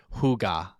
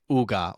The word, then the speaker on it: hygge: It's actually pronounced Huga. Okay. I think Uga or Huga or Yoga, something like that.